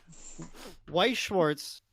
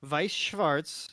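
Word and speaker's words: Weiß Schwarz: um so dan's reeling white schwartz or vice schwartz if you want to pronounce it that way i don't know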